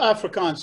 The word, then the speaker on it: Afrikaans: If I'm pronouncing it right, the first song against apartheid, was it pronounced Afrikaans? Is that how it's? Yeah, Afrikaans.